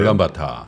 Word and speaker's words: 울란바토르: 여기 몽골 울란바토르죠? 와, 울란바타라고 해주세요. 바로 아시네요. 현지 발음은 울란바타예요. 울란바타.